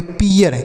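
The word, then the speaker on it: pear: देख रहे हैं प्यारे बच्चों, इस आर की वजह से इसका उच्चारण ही बदल जा रहा है।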